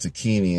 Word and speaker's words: Tacchini: Sergio Tacchini, I think it's pronounced Tacchini in Italian.